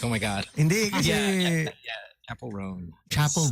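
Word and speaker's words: Roan: r r uh-uh Ron Rowan R right Chapel rone yes you're making me question my confidence now B I'm like oh my God chapel rone chapel R new singers I thought it was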